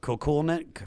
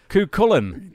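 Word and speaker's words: Cúchulainn: Because he wrote it phonetically for me. Kukulnet? Fuck! Kukulin.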